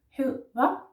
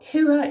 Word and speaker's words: hedder: Now, hedder is with two D's, but we don't say the two D's. We say one D, and it is soft.